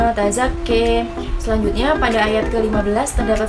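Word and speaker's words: تَزَكَّىٰ: Selanjutnya pada zakka, di situ terdapat imalah sehingga cara membacanya menjadi qad aflaha ma tazakki.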